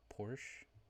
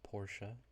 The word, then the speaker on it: Porsche: and the grow these are both based on Porsche or Porsche depending on how you pronounce it these are both Porsche this is